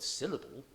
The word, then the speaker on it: syllable: For example, the word syllable is stressed on the first of its 3 syllables, syllable, and pronunciation on the 4th of its 5 syllables, pronunciation.